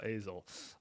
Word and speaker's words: Azle: I'm saying it right now, Azle.